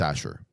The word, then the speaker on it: Azure: I would probably start with it's called basically Azure Document Intelligence and or Azure, however you want to pronounce it. It's Azure. It's very simple.